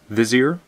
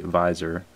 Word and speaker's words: vizier: plus one counters on the visor or vizier vizier yeah there we go vizier I don't know why I'm mispronouncing that vizier um so pretty sweet